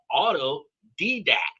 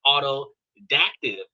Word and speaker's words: autodidact: And it's actually spelled auto didact. A U T O D I D A C T, not autodactive. I can pronounce autodactive, but autodidact is completely different.